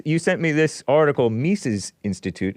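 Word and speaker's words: Mises Institute: sent me this article mis's Institute is that how you pronounce it mes yes Institute Australian economics Freedom andace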